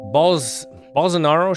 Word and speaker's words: Bolsonaro: Bolsonaro shrugs off Brazil's rising coronavirus death toll. So I don't know how to pronounce it either. I like your first pronunciation. I would call it Bolsonaro.